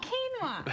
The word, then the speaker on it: quinoa: doing something that we had a hard time pronouncing but it looks amazing so this is so quinoa kinoa yes yes I know it's super healthy for